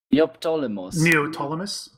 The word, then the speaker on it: Neoptolemus: Oh my god, I can't even pronounce the name, sorry. Neoptolemus?